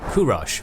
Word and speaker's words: Kurosh: it was born this boy known as kurosh by old Persian pronunciation but to us as